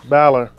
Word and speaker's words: Balor: i definitely think so balor oh what would i say i'm sorry you know you said baylor it's pronounced balor oh balor yeah i think balor is